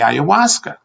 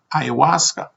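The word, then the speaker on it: ayahuasca: He replied that we came here to drink the owasa. I said, "What?" Unable to pronunciate the word ayawasa.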